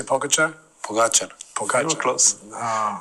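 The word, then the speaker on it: Pogačar: Pogacher.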